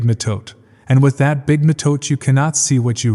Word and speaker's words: mitote: Your whole mind is a fog which the Toltecs call the mitote, pronounced m i h t u e t y.